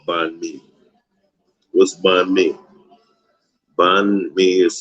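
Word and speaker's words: bánh mì: ordered something called find me what's by me bond me is spelled b-a-n-h and then the second word is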